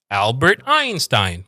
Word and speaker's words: Albert Einstein: Albert Albert coming down. Albert Einstein going up with the Albert Einstein.